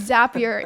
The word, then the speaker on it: Zapier: may be safe here I heard one of the founders say it's it's zapier it rhymes with happier because it makes oh